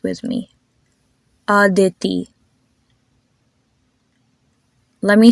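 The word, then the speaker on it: Mira: has a e sound that's the same way you would pronounce the name mea m e r a mea or the name Provine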